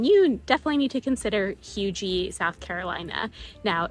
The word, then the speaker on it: Huger: definitely need to consider HUGER, South Carolina. Now, it's pronounced HUGER. It looks like HUGER or HUGER, but it's pronounced HUGER.